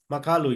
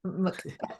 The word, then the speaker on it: Makalu: Makalu, yes. Oh, sorry. That's the Australian pronunciation. Makalu Makalu.